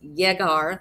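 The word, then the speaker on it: llegar: lot in Spanish and when you have those two L's together they're pronounced like a y so this is jegar the verb I will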